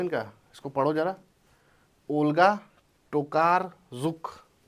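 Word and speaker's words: Tokarczuk: इसको पढ़ो जरा ओल्गा टोकार जुक ओल्गा टोकार जुक नाम है इनका सी साइलेंट है तुम्हारी भी जिंदगी में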